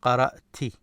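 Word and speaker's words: قرأتِ: So in this case, because of this main law, you have to move this ta. So, and it will take this kasra. So it will become qara'ti.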